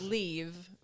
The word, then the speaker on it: Liv: whole name so it's leave F uh leave is like leave the room it's livv it means